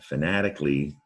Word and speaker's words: fanatically: make a big word fanatically now this a-l-l-y ending there fanatically sounds like you just pronounce the l y there is an a-l there all right so you